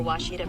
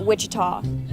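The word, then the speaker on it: Ouachita: Searching for Washita Baptist University. Back in Texas, everybody pronounces it Witchita, but really it's how would you pronounce it? It's Baptist University. Get it right. It's people. It's wash it off.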